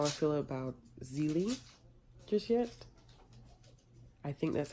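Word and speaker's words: Zélie: I think it's Zelie, but I always want to say Zele, but I think it's Zelie.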